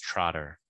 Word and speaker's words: Trotter: This planet has a name, which is pronounced Trotter in your Earth language.